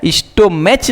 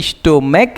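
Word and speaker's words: stomach: स्टोमच नहीं स्टोमक है। स्टोमक में ये जो सी एच है इसका उच्चारण को है।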